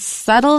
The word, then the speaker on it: subtle: The second one is subtle. has a B in it, but don't pronounce it.